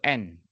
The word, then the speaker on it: AND: Bacanya itu N. Jadi ini jangan bilang dan kayak gini ya, tetapi N aja atau dan aja.